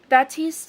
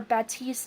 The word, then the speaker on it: Baptiste: Baptiste, or Baptiste, however you want to pronounce his name, I believe his family